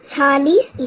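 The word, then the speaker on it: Sahli's: uh instrument which is kept is SES uh Salis hemoglobinometer so always you have to pronounce correctly s Salis hemoglobinometer so this is usually a brown bottle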